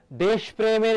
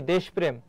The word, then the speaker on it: দেশপ্রেম: সঠিক উচ্চারণ কি দেশপ্রেম দেখো যার সঙ্গে র ফলা থাকে সেই বর্ণটি দীপ্ত হয় কার সঙ্গে আছে প এর সঙ্গে প হবে দত্ত তাহলে কি হবে এখানে বলতো দেশব এই যে এখানে থেমেছে এজন্য হসনর বাকি হবে কি প্রেম হবে দেশপ্রেম এটি হবে তোমার উচ্চারণ তারপরে